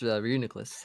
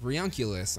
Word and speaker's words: Reuniclus: It's Reuniclus. Reuniclus. Okay. Yeah. Sweet. Like my front office is like Reunculus. I'm like, no, that doesn't sound right to me. Reunculus. Yeah. Reuniclus.